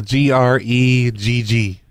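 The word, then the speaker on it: Gregg: you spell it a g-r-e-g-g okay Greg answer the homeowners association there's two G's so it's Greg yeah all right I'm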